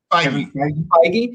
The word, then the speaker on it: Feige: How do you pronounce this guy's last name? Is it Feige or the Kevin Feige? Feige.